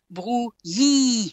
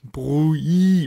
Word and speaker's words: Brouilly: No, it doesn't, because you are running into the infamous ILL sound in French, which is the sound Y, which is the sound that you find in Yahoo.